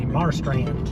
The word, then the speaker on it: Marstrand: How do you pronounce it? Marstrand. I would say Marstrand.